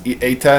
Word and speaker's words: eta: I use a different pronunciation method than modern Greek. I use the type of Greek that Jesus used in the 1st century, so it's a little bit different. It's eta instead of ita, but generally it jives with modern day Greek.